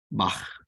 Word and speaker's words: Bach: your throat, very much like the more proper pronunciation of the German Bach. Bach.